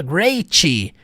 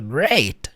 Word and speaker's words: great: Você não enfatiza a consoante no final na hora da pronúncia. Você não fala great, não. Você fala great, igual ela falou, great. Tanto que o T da fala dela nem aparece.